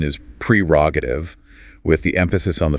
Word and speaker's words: prerogative: The correct pronunciation is prerogative with the emphasis on the first syllable.